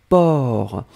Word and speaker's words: porc: même pas nécessaire et la dernière chose c'était port alors souvenez-vous que port on ne prononce pas le ces finales d'accord mais on